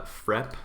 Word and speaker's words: frep: is really cool it's f rep uh frep i i pronounce it f dash rep like that f rep and what f rep